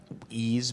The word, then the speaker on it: Ys: Ease Book 1 and 2, I believe is how it's pronounced.